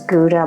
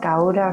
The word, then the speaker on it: Gouda: I'm never sure how to pronounce this because I always thought it was Gouda, but here we pronounced Gauda.